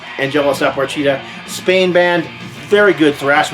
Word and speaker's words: Apatrida: This, I always have a hard time pronouncing the name. Angelus, that's easy. But it's Apatrida.